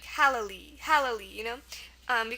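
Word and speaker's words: hallali: it's not that one it's pronounced halali halali um and it's a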